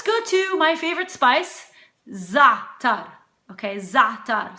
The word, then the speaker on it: za'atar: Some people tend to pronounce the latter half of the word and say ZA'ATAR, but it's not ZA'ATAR, it's ZA'ATAR. So if you can't say the ZA'ATAR, you could just say ZA'ATAR and put the emphasis on the first syllable rather than on the second syllable.